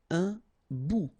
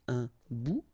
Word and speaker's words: bout: Un bout. Remember, final T not pronounced. Un bout.